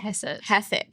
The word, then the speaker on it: Hassett: Hassett.